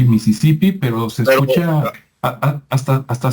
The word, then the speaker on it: Mississippi: se pronuncia ya correctamente en inglés americano es como así como como se escucha en español es lo mismo a Mississippi e Mississippi Pero se escucha hasta